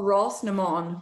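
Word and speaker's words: Rás na mBan: you won four times running olivia boston okay pronounce it one more time oh ross nemond which means race of women in in irish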